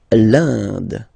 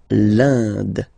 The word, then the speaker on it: l'Inde: L'Inde, so remember you get this nasal here form, I-N-1, l'Inde, L'Inde.